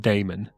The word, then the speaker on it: demon: m o n sorry yeah uh it's more pronounced Damon Damon so I think the only other thing